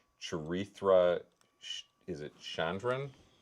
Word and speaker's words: Chandran: Now, I I I'm gonna absolutely hack the pronunciation of this actress's name. Charra, is it Shandran? Uh, Chandran. Chandran.